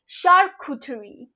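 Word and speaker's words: charcuterie: name for यू cat let's keep this up शार्क कुठरी शार्क कुठरी then this oh माय God what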